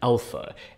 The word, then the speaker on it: alpha: is to be pronounced given that there are several different a sounds within English you know there's a like an ant and then there's a like in drama which is actually you